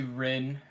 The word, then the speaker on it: Rin: with a small bar attached and you see Ren uh you would know Ren is the waitress